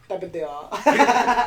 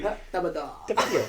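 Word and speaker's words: Tapatío: Tapatio. That's better, actually. Tapatio.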